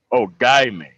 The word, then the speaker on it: Ogiamien: yeah you know yeah the hard g is the most important part okay okay man yeah oh guy me all right there we